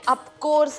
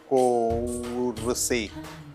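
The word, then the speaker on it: of course: बघा तुम्ही जे नेहमी ऑफकोर्स ऑफकोर्स म्हणताना त्याचा उच्चार ऑफकोर्स असा आहे म्हणा बरं अप कोरसे कोर्से नाही हो ऑफकोर्स ऑफ कोर्स ऑफकोर्स आणि स्पेलिंग ओ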